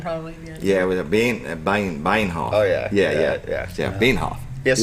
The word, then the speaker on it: Bienhoff: Yeah, it was a Bienhoff.